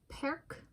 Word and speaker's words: perc: for today Wednesday 27 December 20123 I'm doing perk um yesterday I did perek so perk is the singular of perek and it translates